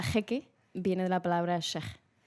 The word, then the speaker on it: Cheikh: La pronunciación correcta en árabe es sheikh, pero en castellano todo el mundo lo lee como sheikh, entonces yo digo sheikh. Y los ingleses dicen chic y yo me adapto.